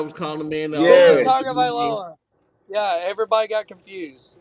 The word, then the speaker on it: Tagovailoa: Tagovailoa. Yeah, everybody got confused. Like, Right, how you pronounce this kid's name?